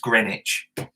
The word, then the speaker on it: Greenwich: in london is spelt green witch but it's pronounced greenwich lanahasi river is built lanahachi you know and